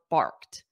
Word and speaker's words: barked: the dog barked and notice that pronunciation of bark so it ends on a soft T bark repeat after me